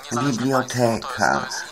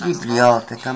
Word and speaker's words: biblioteka: U nas nie ma biblioteka, tylko jest biblioteka, matematyka, polityka. No takie są akcenty poprawnie stawiane na trzeciej sylabie.